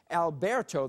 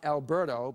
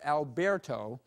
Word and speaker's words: Alberto: We have a subtropical storm, Alberto. That's the way it's pronounced, not Alberto, but Alberto.